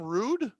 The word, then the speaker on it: Rude: You ever met anyone named Rude? Rude? R-U-D-E? Like Rudy? But you like call Rude. Maybe I pronounce it Rudy, but it's R-U-D-E, and I just figured it was Rude. And that, imagine if it is Rudy, and everyone's just calling him Rude.